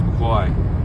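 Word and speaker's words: McCaughey: Her name is is spelled uh C A U A G H T Y or something like that. It's not McCoy like you'd expected. So, don't get confused by that.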